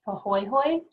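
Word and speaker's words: pāhoehoe: to know so the these are both Hawaiian terms so the first one is pronounced pohoy and that is when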